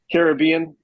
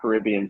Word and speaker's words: Caribbean: sitting in the sun in the Caribbean. It's not Caribbean, right? It's Caribbean. How do you say Sure. it? Well, what's Pirates, the movie called? Pirates of the Caribbean. Right, it's the Caribbean.